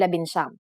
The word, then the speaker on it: labinsyam: For the letters D, L, R, S, and T, the G from NG is dropped to make it easier to pronounce. Labindalawa, labintatlo, labinlima, and labinsyam.